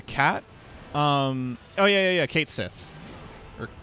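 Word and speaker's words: Cait Sith: um oh yeah yeah kate sith or kite sheath because it's uh gaelic i think it might be kite she like i think the th is silent um yeah with the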